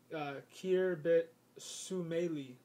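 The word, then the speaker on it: Khirbet Summeily: They were found at Khirbet Sumaili, or Khirbet Sumaili. That's how you pronounce it.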